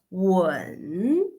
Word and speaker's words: 吻: And if we pronounce the third tone, that's when, when.